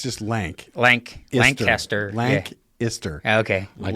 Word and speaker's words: Lancaster: me link you I L yeah I can't pronounce it like lank yeah it's just lank lank lanter lank ister okay k i s t l LC you